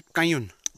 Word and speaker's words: Kanyun: लो जी, हम पहुंच गए एक और मीडो में जिसका नाम है कयून, KNYUN कयून, एन इज साइलेंट।